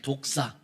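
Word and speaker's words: δόξα: 근데 헬라어로는 좀 발음이 좋지는 않아요. 독사.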